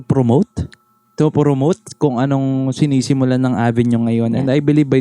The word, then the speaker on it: AVN: makikita niya siya like you can type avn Like what you can see here avn coffee pero it Ano ang pronounce niya is Avenue pa din o Syempre Syempre kapatid